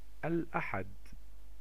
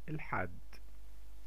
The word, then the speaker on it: الأحد: Sunday. الأحد. الأحد. Or you can say it like an Egyptian. الحد. الحد.